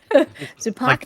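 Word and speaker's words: Zipacna: hear what saidia s that's how you pronounce it okay zupac Tupac right in the middle in my mythology zupak is a demon the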